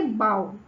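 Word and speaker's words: bough: In English there are many words ending with OUGH. बहुत सारे words होते हैं जो इस एंडिंग के होते हैं, which are pronounced very differently.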